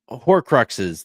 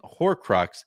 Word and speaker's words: Horcrux: that series and um for some reason never saw the r in hor Crux so I got to